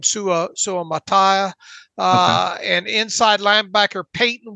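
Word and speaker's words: Suamataia: dandre sweat Kingsley SU how do you pronounce kingsley's last name sua Su Mattia uh and inside linebacker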